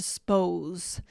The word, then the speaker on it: suppose: Most of the time we shorten it to spose. That's right. We often will make it like one syllable when we're speaking quickly.